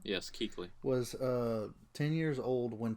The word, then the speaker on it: Kuechly: Luke Kuechly. There you go. That's how you say his name, right? Yes, Kuechly.